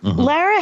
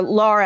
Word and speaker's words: Laura: Lara Harrington, or Laura, actually, she pronounces it.